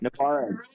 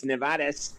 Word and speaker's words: Nevarez: I could throw the Spanish side of it. It's Nevarez. Nevarez? I like that. Nevarez.